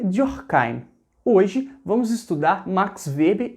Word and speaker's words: Weber: Na verdade, é Max Weber. Pronuncia comigo aí o alemão, olha, Weber. Não é brasileiro gosta de aportuguesar tudo, né? Não é nem Webert, nem versão Webert Richard, não é isso.